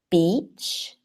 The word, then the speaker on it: beach: So you can see the difference between beach and bitch. And that can help you to, let's say, practice slowly. What I always recommend for these difficult pronunciation questions is to practice slowly. So just focus on the shape of your mouth. Beach, bitch, beach, bitch.